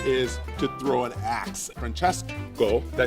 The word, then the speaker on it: Francesco: Francesco, did I say it right? Francesco.